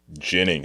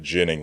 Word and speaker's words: Ginning: So this game we were just watching, they had Adam Ginning, I guess it's pronounced. Yeah, it looks like Ginning, but Ginning, like gin rummy, I guess.